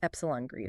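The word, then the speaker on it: ε-greedy: One popular one is A greedy, pronounced epsilon greedy.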